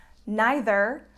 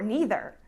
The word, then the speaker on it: neither: one or either one my next word has the same pronunciation issues as the last one and it's neither or neither okay so again we have the same case here neither actually means not either of the two so this is kind of the negative of either and and both pronunciations are correct again so for example